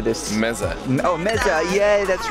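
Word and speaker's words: meze: Meza.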